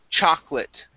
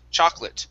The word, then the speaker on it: chocolate: we have the word chocolate the o the second o in chocolate is not pronounced so we do not say chocolat it's choc choc lit chocolate try that chocolate chocolate